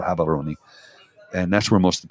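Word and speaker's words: Gaborone: live in habon Gabon it's spelled Gabon g a b a r o n e but they pronoun gabs are or habon and that's where most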